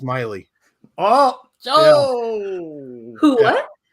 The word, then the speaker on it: Maile: and say you're male bring it on it's actually pronounced miley oh who what it's miley like miley cyrus that's pronounced but everybody